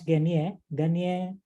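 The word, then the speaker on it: Gagné: Gunakan this Garnier, we pronounce Garnier 9 events of instruction.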